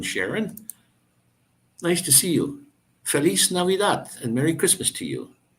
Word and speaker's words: Feliz Navidad: for you Feliz Navidad Feliz Navidad and I don't remember if you uh if I was telling you about how the the Mexican the Spanish language is the letter i is pronounced e so and it's exactly